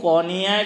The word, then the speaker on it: قونیہ: وہ سب وہ قونیہ، اگر میرا تلفظ صحیح ہے، ترکیہ کے اندر ایک جگہ ہے، قونیہ بولتے ہیں، قونیہ نہیں، ہاں، بڑا قاف واو نون یا ہا، تو قونیہ ہے۔ وہاں قبر ہے کس کی؟